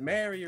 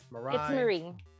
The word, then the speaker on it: Marie: i'm good how are you now is it mary or is it marie marie it's marie marie yes okay uh